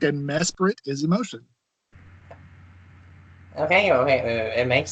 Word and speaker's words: Mesprit: I've heard it Mesprit, Mesprit, and Mesprite. How do you say it? I've only heard people say it as Mesprit. Like, I've not even heard of an alternative for it.